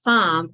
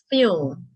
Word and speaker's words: fumage: Fumage, pronounced fum or fume, also known as smoke, vapor, or fume.